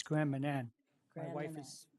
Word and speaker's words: Grand Manan: How do you pronounce it? It's Grand Manan.